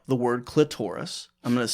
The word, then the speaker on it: clitoris: Now, I found you have to pronounce it. We'll discuss this a little bit. You can't, it's got to be clitoris. Yes. It can't be clitoris. That for me, exactly.